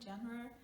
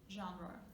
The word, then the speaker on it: genre: Okay, we tend to kind of say it's like genre, but it's a foreign word, so we should say it just like it is, genre.